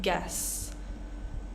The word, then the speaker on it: guess: Pronouncing the E, not the U. Guess.